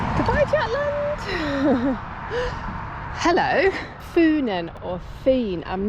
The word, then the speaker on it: Fyn: Funen or Feen, I'm not exactly sure. So I think it's actually pronounced Len and Fien, but I'm definitely struggling with the language.